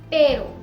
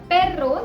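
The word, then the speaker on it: perro: लेकिन जब भी एर्रे दो वॉवल्स के बीच में आएगा तब ऐसा नहीं होता, तब इसका प्रोनाउंसिएशन थोड़ा लाइट होता है। जैसे कारो, पेरो। अब इन जगहों पर हमने इसे कार्रो या पेर्रो नहीं बुलाया, ऐसा करने से इसका मतलब भी बदल सकता है।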